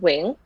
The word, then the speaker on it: Nguyen: spelled n-g-u-y-e-n um but in vietnamese we pronounce it wing and um but it's